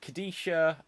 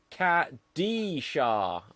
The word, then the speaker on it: Kadesha: else we've got uh kadesha uh says this was amazing thanks so much for the record my name is oh hang on cat d shah so i was saying it wrong right anyway um